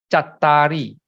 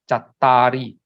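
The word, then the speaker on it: cattāri: Now, Pali, you must also note, Chattari, you pronounce as, although it is Cattari, you pronounce the Cat first. When there are 2 T's, you pronounce the first T, up to the first T first, Chat. And then the next syllable is called Tari. Okay, Chattari. Purisa Yugani, Atta, the A-T-T-H-A,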